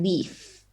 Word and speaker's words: leaf: So leave, leaf. Leaf is like from a tree. They're two completely different sounds. Like you pronounce them completely differently because of the last letter. So you have like leave and leaf. So it's a v sound, like more aggressive, so v. But this is like a soft sound, so like leaf. Okay, let me try to translate it first.